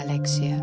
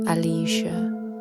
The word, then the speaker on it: Alexia: เ When people ask what my name is, I say Alexia, it is easier to pronounce not hard to remember. And I don't have to repeat it again. My name is not Alisha. not alia and pagan name